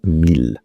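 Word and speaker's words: miel: Honey is pronounced in French mil. Let's start with the basics because well, why not? Honey in French is pronounced mil as I just said and spelled m i e l.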